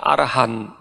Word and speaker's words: arahant: seorang arahata seorang araha seringkiali kita mengatakan arahat gitu ya rahat itu lebih cenderung apa Pengucapan ya dari sanskrit demikian dari bahasa pali kata asal ya kita mengatakan kata asalnya itu adalah arahan jadi arahan a r a h a n t itu arahan atau arahan ta itu jadi